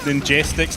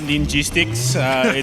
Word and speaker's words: Ninjestics: Man, you Australians, it's pronounced Ninjestics, not Ninjistics. It's an E, not an I.